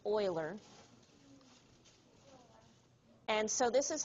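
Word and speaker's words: Euler: so it looks like uler but the guy's name is actually pronounced Oiler and so this is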